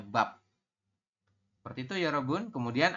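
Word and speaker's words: 밥: Kalau di akhir bunyinya adalah P, jadi ini biep, vokal A terus biep, jadi dibacanya bab.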